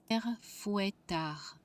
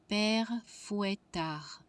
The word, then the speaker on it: Père Fouettard: How is it pronounced? Google will help me. Père Fouettard. Père Fouettard.